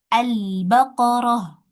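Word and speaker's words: البقرة: Nah, ini albaqarah ya. Al dibacanya fathah. Albaqarah.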